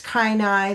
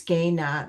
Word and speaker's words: Kainai: Uh we also so there's different pronunciations. There's kaii there's also gana. uh but I use gaya.